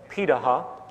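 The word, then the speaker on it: Pirahã: hunter-gatherer societies around the world such as the piraha which is how its pronunciate it out of Brazil amazingly it appears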